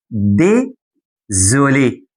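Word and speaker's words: désolé: وهتستخدم كلمه تانيه اسمها دي زولي ديزولي اسمها تاني ديزولي تاني كده ديزولي مش ديسوليهش الاس انا قلت لك الاس لما تقع ما بين دو فويال حرفين متحركين منطقها ز بديزوليه تقول له باردون السؤال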